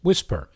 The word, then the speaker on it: WSPR: signal propagation reporters Network or wspr pronounced whisper you might remember that